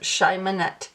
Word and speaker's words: Cheimonette: I have the Cheimonette Tarot, which I believe is the correct way to pronounce the name of this deck based on an email exchange I had with the creator.